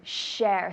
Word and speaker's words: share: Share, so just getting the proper sound of shh. I have some students that the s and the sh is difficult, so think shh, silent, shh, be quiet, shh, share. Tell me. Share. Perfect, one more time. Share. Good, and I can hear the shh, that's important.